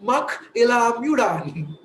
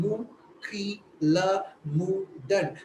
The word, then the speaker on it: Mukila Mudan: But if I give the right pronunciation, Mukila Mudan, the U is different.